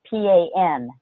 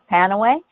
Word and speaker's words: Panaway: It's spelled P-A-N-A-W-A-Y, because the FDA doesn't allow you to say Pain Away, because that's a claim.